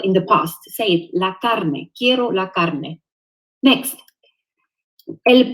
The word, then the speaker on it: carne: the pronunciation little bit try to avoid saying it in English y carne don't say it's true do your best to say rag la carne la carne 0 la